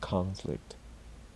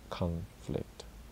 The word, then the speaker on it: conflict: to highlight something here when the O is stressed like conflict in occupation it is pronounced like ah are occupation conflict again a great phrase